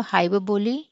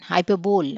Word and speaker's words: hyperbole: Simile, metaphor, hyperbole, personification. Hyperbole అనకూడదు, hyperbole. Hyperbole. Okay, this is how you have to pronounce it. 4 syllables ఉన్నాయి.